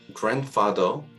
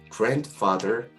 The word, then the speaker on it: grandfather: 다음 파닉스 규칙은 ND인데요. 방금 전에 했던 NT처럼 이때도 D 발음이 N 다음에 나왔을 경우에는 약해지거나 사라지는 현상입니다. 대표적인 예로는 grandfather, 할아버지가 있는데요. grandmother도 마찬가지고요. 그런데 이렇게 D 발음이 사라지는 것은 미국식 영어에서 두드러진 특징이고요. 영국식에서는 D 발음을 살려서 grandfather, grandmother 이렇게 발음이 되기도 합니다.